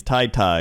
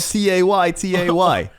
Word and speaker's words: Tay-Tay: it's not Tay-Tay, it's Tie-Tie or something. Like, sorry, I don't know things. All right. Sorry, I don't know it's facts. It's spelled T-A-Y-T-A-Y. Okay, that's Tay-Tay. T-A-Y, that is Tay-Tay. That's Tay-Tay. Yeah, take that up with Taylor Swift.